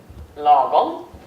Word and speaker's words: lagom: also a question mark behind it the word logon for you is it all fries no it's not this is normal as you can see it's pronounced logon and there is really no good translation on